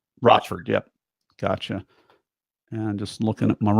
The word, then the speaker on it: Rochford: Yeah, if you think of it phonetically, two words coming together, Roch and Rochford.